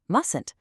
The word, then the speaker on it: mustn't: Look at the pronunciation of mustn't. When you're speaking to a group, that first T is completely silent. It's just mustn't.